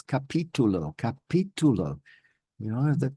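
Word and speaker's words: capítulo: And so things like, I was saying capitulo for a long time until I heard myself back with my audio delay software. And then I realized I wasn't saying the right thing. It's capitulo.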